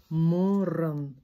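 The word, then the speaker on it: мұрын: И вот теперь такое глухое «о». Не «у», а «о». Морран, морран, морран.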